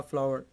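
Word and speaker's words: flour: आटा छान दो, तो वो होगा सिफ्ट द फ्लावर। इसको हम फ्लोर नहीं बोलेंगे, बहुत से लोग गलत इसकी प्रोनाउंसिएशन करते हैं फ्लोर बोल के, ये फ्लोर नहीं होता।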